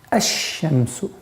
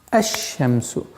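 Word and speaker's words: الشمس: «аш-шамсу». Обратите внимание, «аш-шамсу». То есть мы произносим фатха здесь и переходим на удвоенный знак. Лям, буква лям в артикле аннулируется и получается «аш-шамсу».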